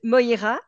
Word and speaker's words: Moïra: so thank you so much how do you pronounce your name and your last name correctly my first name is MOA and my last name is like